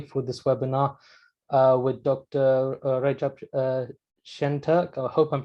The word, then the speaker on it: Recep Şentürk: Recep Şentürk. I hope I'm pronouncing that right.